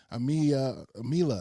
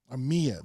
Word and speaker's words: Amia: speller that's out there, or Amila, I think I said, excuse me if I said it wrong. Amia, there we go.